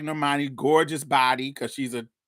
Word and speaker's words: Normani: Armani Normani is there is it Normani or Normandy how do you say her name Normani um yeah yeah Monique give Normani Greg